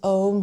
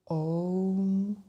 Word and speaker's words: Om: When pronounced aloud, Om begins with the sound O, then comes U, and finally Om. This includes all the open vowel sounds.